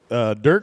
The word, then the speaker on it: Durk: Durk, correct? Am I pronouncing your name correctly? You bet. Perfect. As long as you don't say it with an O, you're good to go.